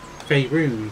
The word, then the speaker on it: Faerun: Faerun, thank you for actually saying it, because I had no idea how to actually pronounce it.